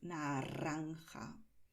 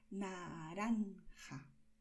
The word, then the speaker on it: naranja: Y aquí el sonido que tiene la R no es el de la vibración que ya conoces por arroz, ¿vale? Nosotros no decimos naranja, ¿vale?